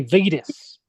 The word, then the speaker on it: Vettis: I say Vetus. So Vettis. When I talked to JoJo Brown, me and JoJo Brown were talking before shows.